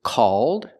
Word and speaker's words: called: The first word is called, it's open, and the second word is cold.